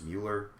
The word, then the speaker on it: Mueller: even, I believe, any special counsel, such as Mueller.